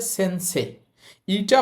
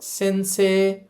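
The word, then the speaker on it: 先生: এটাকে আমরা সেন্সেই না বলে এটার উচ্চারণ করব। সেন্সে সেন্সে। এখন আপনি যদি এই শব্দটাকে সেন্সেই বলেন তাহলে কিন্তু ভুল হবে না। ম্যাক্সিমাম মানুষ সেন্সেই পড়ে। বাট নেটিভ জাপানিজরা যখন কথা বলে তখন তারা ওই ইটাকে উজ্য রাখে বা ইটাকে উচ্চারণ করে না।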